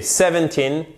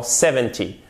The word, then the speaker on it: seventeen: en français ici donc vous prononcez seventeen et la personne entend seventy pourquoi parce que pour les dizaines vous avé l'accent tonique sur la première syllabe alors que de 10 à 19 enfin de 13 à 19 pour être précis vous avez l'accent sur la dernière syllabe d'accord donc fait bien